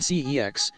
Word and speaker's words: CeX: I'm streets ahead unprotected cex at a used electronics slash games retailer whose name is pronounced as sex router I barely know